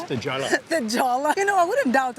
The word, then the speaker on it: La Jolla: I read online that it looks like there's some kind of association with the Spanish word for the jewel, which is La Jolla, but with a Y.